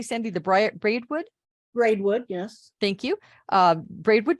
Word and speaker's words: Braidwood: she also writes three weekly newspaper columns about the history of the region the bread am I pronouncing that correctly Sandy the Braidwood Braidwood yes thank you Braidwood journal the Wilmington